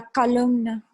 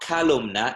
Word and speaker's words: columna: A lot of people pronounce it as though it had a second A, but it's la columna. La columna. So it's not calumna, it's columna.